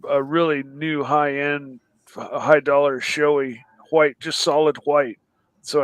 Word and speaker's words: Shoei: up array or something all right no it's showy uh it's it's a comparable company arai and